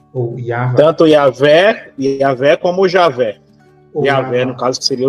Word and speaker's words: Javé: Em português ficaria Javé. Uhum. A gente respeita essa pronúncia aqui no Brasil, Yahvé ou Javé.